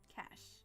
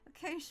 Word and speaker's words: cache: Cash. Is it cash, really? I've been pronouncing it like cache my whole life.